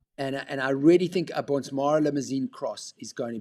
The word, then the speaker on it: Bonsmara: Bonsmara, have Yeah.